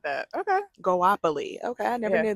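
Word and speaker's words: Goapele: Goapoli.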